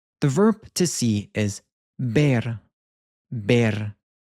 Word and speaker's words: ver: The verb to see is bear. Bear. It sounds like the English word bear, but we have a softer be with this bear.